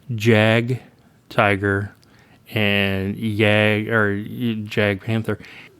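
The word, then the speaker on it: Jagdtiger: And I have been saying Jag, Tiger, and Jag Panther. The J is a Y, basically.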